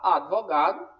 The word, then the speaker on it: advogado: né o abituração serviço ninguém deveria falar advogado ou advogado né na oralidade tudo bem a gente acaba falando mesmo só que você tem que falar advogado e obturação e quando isso acontece